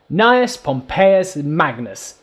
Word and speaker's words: Gnaeus Pompeius Magnus: Gnaeus Pompeius Magnus.